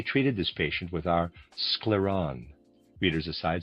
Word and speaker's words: Scleron: We mainly treated this patient with our scleron readers aside spelled s c l e r o n scleron and a reader's aside.